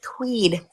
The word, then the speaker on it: Tweed: hold on, you gotta say it right. It's Tweed. Tweed.